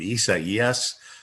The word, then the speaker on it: Isaias: I mean, Isaias.